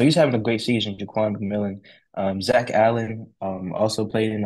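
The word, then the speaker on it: Jaquan McMillian: Jaquan McKillen. I got this name wrong. Jaquan McMillan. Jaquan McMillan.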